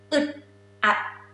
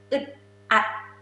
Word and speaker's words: อึดอัด: เครียด so เครียด is stressed ค่ะ เครียด uncomfortable อึดอัด say it again it's funny a little bit funny อึดอัด this sound gonna be in your throat อึดอัด ค่ะ อึดอัด is uncomfortable.